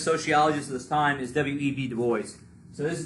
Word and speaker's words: W.E.B.: And it's not Webb. W.E.B. It's W.E.B., right?